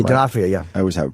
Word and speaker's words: D'Onofrio: D'Onofrio, yeah.